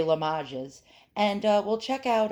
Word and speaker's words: Limoges: in lamo la mages i call it limoges but you say la majas and uh we'll check